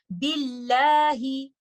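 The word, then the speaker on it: بِاللهِ: We will make this lam light and we will recite it like this. Billahi. And do not make it heavy. Billahi. Billahi is the proper pronunciation for this lam in this situation when there is a kasra before it.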